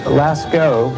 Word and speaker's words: Lascaux: Lascaux, as it's pronounced, L-A-S-C-A-U-X, Lascaux is the name of a French cave where